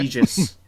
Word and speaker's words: Aegis: No, Aegis is correct. Oh, also okay. Aegis. There are 2 different ways to pronounce it because no one knows exactly for sure because language is stupid.